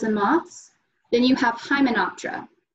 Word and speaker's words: Hymenoptera: Then you have Hymenoptera. Hymenoptera.